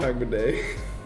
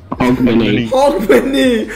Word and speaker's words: Hogmanay: I said it wrong, it's not Hagmadeo. Hogmanay. Why do I think it's Hagman Day?